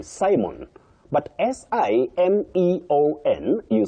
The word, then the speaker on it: Simeon: But S I M E O N. You say Simeon.